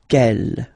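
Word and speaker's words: quelle: for the phonetics okay the way to pronounce them ke masculine form here will be pronounced exactly as the feminine form here ke so only one sound okay and then the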